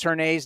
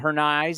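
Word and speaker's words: Hernaiz: all these Daryl her her Nays by the way we've been pronouncing it wrong and I remember seeing a video when he was in double A Midland it was her Nays not her knives and even though I've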